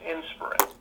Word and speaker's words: Inspirin: called inspirin inspired Wellness inspirin is spelled like aspirin except for it has Inspire so it's inspirin uh and an inspirin